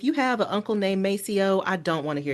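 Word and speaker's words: Maceo: us responding us pronouncing it the way we pronounce it. We're not going to say mo. It's it's Macio."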